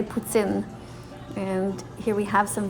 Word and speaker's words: poutine: what we have next this is called putsin that's how we pronounce it here in canada you guys probably say poutine or poutine but we say putzin and here we have